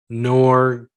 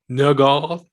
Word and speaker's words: Norgaard: Norgaard? You don't pronounce the D.